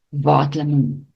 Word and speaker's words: waterlemoen: Waterlemoen. Waterlemoen. Remember the W is not W, like a V in English. Waterlemoen.